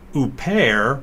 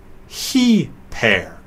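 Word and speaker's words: ὑπέρ: salon P epsilon row it's not impaired but he pair I put the emphasis on the first syllable although it normally falls in the last just to stress the rough breathing mark he pair is the proper pronunciation of the word if an initial vowel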